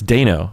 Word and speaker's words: Dano: I also mispronounce Paul Dano is how you pronounce Paul, you know. It's Dano, not Dano? It's Dano, yeah.